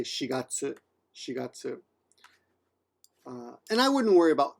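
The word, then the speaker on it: 四月: But when you're talking about April, you don't say yongatsu, you say shigatsu.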